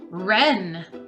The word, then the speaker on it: wren: This bird here is called a wren. That's a silent W at the beginning of the word.